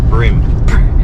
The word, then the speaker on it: bream: How did you pronounce bream? Bream. It's pronounced. It's spelt bream. Bream.